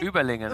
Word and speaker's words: Überlingen: Überlinger. How do you say? Überlingen, yes.